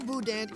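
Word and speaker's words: boudin: about the Budan and it's pronounced Budan right mhm cuz it looks like buen buan do I sound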